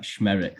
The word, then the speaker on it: Szmierek: So it's the SZ is a sh, like Szmierek, like rhymes with Derek.